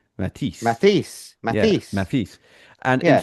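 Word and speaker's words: Mathis: The French pronunciation Matis.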